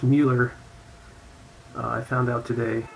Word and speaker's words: Muller: Uh, this is actually pronounced Mueller.